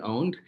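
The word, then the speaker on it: pwned: that there's the regular have I've been owned uh it's spelled with a p that's uh that's from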